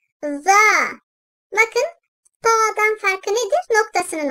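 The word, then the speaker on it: ظ: Dil ucunun ön dişlerin arasına hafifçe girmesiyle çıkartılır, peltek olarak telaffuz edilir. Za.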